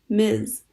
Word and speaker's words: Ms.: Generally speaking, it is polite to call a woman Ms., pronounced Ms., unless prompted otherwise.